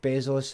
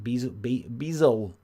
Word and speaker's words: Bezos: Jeff Bezos has been... Is that how you say his name? Bezos? Is it Bezos? You don't say the S, it's Bezos.